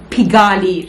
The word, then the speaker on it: Pigalle: if we're not so we had supper at pigali restaurant that's how it's pronounced yeah finally we got the pronunciation right